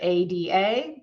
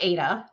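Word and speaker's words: ADA: For example, I would use a period after A.D.A. because a screen reader would read that as A-D-A, not A-duh.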